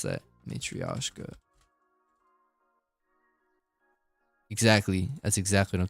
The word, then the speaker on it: Matryoshka: How do you pronounce that? Matryoshka.